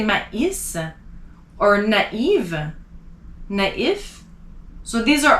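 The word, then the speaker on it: maïs: the letter i so another example would be my is so you don't want to say mace you want to say ma is or naive so these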